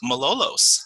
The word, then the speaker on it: Malolos: of 2020 and today I'm here with Malolos how are you doing for annika I am